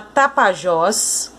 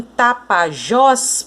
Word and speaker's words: Tapajós: Então, em Tapajós, por exemplo, a sílaba mais forte é o Jós. Por quê? Porque é ela que tem o acento.